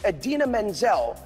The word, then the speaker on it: Idina Menzel: The iconic and brilliant Idina Menzel, pronounced exactly as it is spelled, is our Elsa.